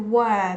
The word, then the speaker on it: were: So you can hear that we're not stressing the were there, right? We're not stressing it, and that's why we pronounce it as were.